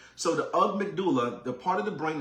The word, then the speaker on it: amygdala: So I butchered the word earlier. It's called the amygdala. Okay. The amygdala, right?